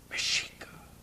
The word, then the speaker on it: Mexica: Mashika it whispers. It's Guucharasa. Mashika. Mashika. Mishika. Mashik meaning the whole of the people. Mashika is spelled M E X I C A.